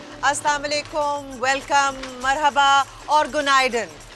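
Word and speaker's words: Günaydın: तो गुनाइडन is good morning. So गुनाइडन everyone, गुनाइडन। The pronunciation is okay, गुनाइडन, या okay जी।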